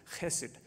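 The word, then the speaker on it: hesed: really important word throughout the Old Testament it's hessed h d the the Old Testament scholar Ellen Davis tells me that you should pronounce it hessed like with a in the back but it's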